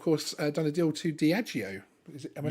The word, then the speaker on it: Diageo: has now, of course, done a deal to Diageo. Am I saying that? Am I pronouncing that correctly? Diageo, yeah.